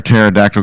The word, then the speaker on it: pterodactyl: you can't hear a pterodactyl go to the bathroom because the p is silent ah wait a minute